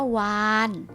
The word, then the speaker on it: วาฬ: หนู เช่น กัน ค่ะ คำ ว่า วาฬ นะ คะ เรา จุฬา เป็น ตัว สะกด แต่ ออก เสียง เป็น ตัว น้อย หนู เช่น กัน ค่ะ นะ คะ